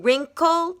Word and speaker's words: wrinkle: In wrinkle, W-R. Ud in could, O-U-L-D. Remember, in W-R, the W is silent.